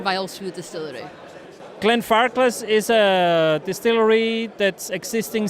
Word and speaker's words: Glenfarclas: Do I spell it right? You do, yes, Glenfarclas.